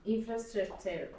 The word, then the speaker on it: infrastructure: From infrastructure. También tienes que estudiar los acentos. Infrastructure. It's on the first syllable, ¿ya?